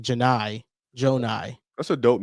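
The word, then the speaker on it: Johni Broome: watching the Auburn broadcast today that it's not Johnny Broom, it's like Jonai Broom. Oh, wow. Yeah. It's like J It's like Janai. Jonai.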